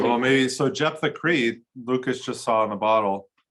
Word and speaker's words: Jeptha: Jeptha. Jeptha.